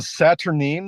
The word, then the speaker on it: Saturnine: Was that a Saturnine? Is that how that's pronounced? Saturnine. Yeah, Saturnine, like the adjective and